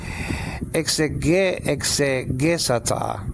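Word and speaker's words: ἐξηγήσατο: Exegesata. It will be actually exegisato, actually in modern Greek, if they were pronouncing the same Greek word, but we'll stay with exegesata.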